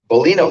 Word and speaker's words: Bolino: trouble so uh how do you say your last name Bolino there we go for a different kind